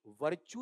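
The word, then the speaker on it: virtue: इसका उच्चारण भाई आरपीएससी पूछ चुकी है। इसका उच्चारण ऐसे लिखा जाएगा। मैं तुम्हारे सामने लिख देता हूं। यह लो बताओ क्या है? वर्चु या वर्चु ऐसा आएगा।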